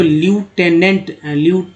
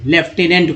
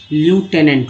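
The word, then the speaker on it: lieutenant: Actually लेफ्टिनेंट यही word है, लेकिन इसको ल्यूटेनेंट पढ़ते हैं, लेफ्टिनेंट को ही हम लोग पढ़ते हैं। हिंदी में क्या बोलते हैं, यहाँ पर इंडिया में लेफ्टिनेंट बोलते हैं। यही वर्ड मीनिंग है, इसका स्पेलिंग यही है, लेकिन एक्चुअल उच्चारण इसका ल्यूटेनेंट होता है।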